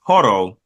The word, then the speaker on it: Holo: Hollow, or in the show pronounced Horo, the wolf.